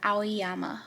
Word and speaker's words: Aoyama: left my brain okay his name is pronounced aiyama oh my god oh it was I don't know why his name is G me ayama so basically he's the Spy that also got